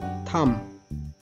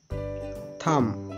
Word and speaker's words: thumb: Thumb. Thumb. In this word, B is silent.